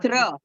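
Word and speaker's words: त्र: it's pronounced as true, right? No. This it's is not. Tra. It is Tra. Tra. Tra, not true.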